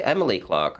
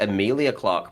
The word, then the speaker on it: Emilia Clarke: don't know about um who did you say emily clark i think emilia clarke might be better yeah okay i said the name wrong you got me he